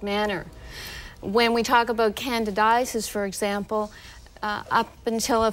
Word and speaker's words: candidiasis: latest information on a common condition known as candidiasis did I say it correctly dr.